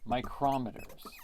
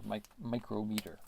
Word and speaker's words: micrometer: 0.1 to go 5 micrometers and you're going to see sometimes it's a little u like this m so that is micrometer or my micrometer that's what sometimes people um pronounce it so these are